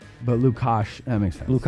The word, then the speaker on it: Lukacs: We just say Lucas. You say Lucas. Okay. Okay. I guess SC can make an S sound, right?